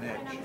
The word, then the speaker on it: niche: Pitch rhymes with niche.